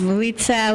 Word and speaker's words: Litsa: Yes, Litsa.